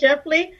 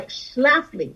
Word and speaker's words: Schlafly: schiffly you know phyllis scheffly yeah i remember exactly thank you yeah that was one of the things you will kept mispronouncing her name yeah phyllis shaftly uh schlafly yes 2x and the